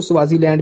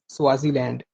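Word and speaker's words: Swaziland: Eswatini की spelling आप note कर लें, ESWATINI, इस्वातिनी, ठीक है। 2018 से पहले इसको स्वाजीलैंड भी कहते थे, स्वाजीलैंड, SWAZI, स्वाजीलैंड, ठीक है।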